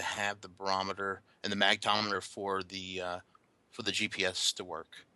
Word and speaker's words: magnetometer: The full version comes with a barometer and I'm going to mispronounce it, but I say magnetometer in my magnometer.